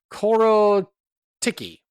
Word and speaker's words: Korotkiy: Nicholas cardarelli let's see it's spelled k r o t k i y which I want to say my heart sounds like it ought to be pronounced cororo Ticky is what is what